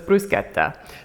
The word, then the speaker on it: bruschetta: probably all know as bruschetta but Lucy here is taken Italian in school and she knows that you pronounce CHS like K like K's so it's bruschetta so we're gonna have